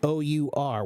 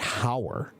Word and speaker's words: hour: hour is spelled h o Ur one hour two hours 3 hours it's spelled with an H but the pronunciation is our not how okay so if the